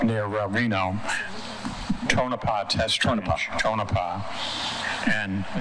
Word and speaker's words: Tonopah: Tonopah.